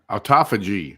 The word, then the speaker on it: autophagy: here we go let me see it's gonna autophagy that's how you say autophagy autophagy not Alto